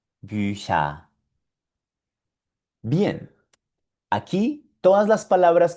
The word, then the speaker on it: Bücher: Y aquí tenemos de nuevo la C con la H y esto suena Bücher, Bücher, Bücher. Bien, aquí todas las palabras que pronunciamos con CH suenan sh.